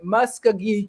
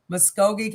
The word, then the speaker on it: Muskogee: is about the musk i can't say muskegee county jail right there's nine hundred and sixty people see how do you say it muskogee county muskogee county 163 image right so